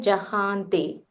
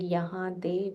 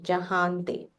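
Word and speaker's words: जहाँ ते: Only thing here in Yama Kubera Dikpala Jahante. Yeah, I think you said Yahante, if I'm not mistaken. So Jahante.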